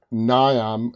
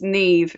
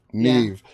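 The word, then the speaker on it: Niamh: shoulders uh and uh nyam did i pronounce her name correct yeah it's nev it's an irish name neve did a brilliant job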